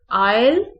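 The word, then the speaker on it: aisle: इसमें आयल में और आइलैंड में एस साइलेंट है, एस की आवाज बिल्कुल नहीं निकलती, बिल्कुल एस ऐसे ही पढ़ा जाता है जैसे स्पेलिंग में एस मौजूद ही नहीं है।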